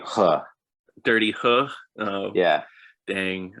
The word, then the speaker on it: Ho: I would like to point out, I know it is funny to call it Dirty Ho, but the actual Mandarin pronunciation is actually Dirty Huh.